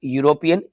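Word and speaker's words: European: university professor आई मट यूरोपियन यह भी आपको या का साउंड दे रहा है ए लगेगा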